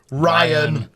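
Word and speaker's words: Rian: But with an I, really, it's Ryan. I was on holiday watching the show and I was like, it's Ryan. If you want to be called Ryan, spell it with a Y, mate.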